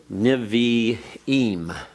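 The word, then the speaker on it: Nevi'im: for NIH the uh should should niveaim should spell that correctly here nivi eem which is the word for Prophets and then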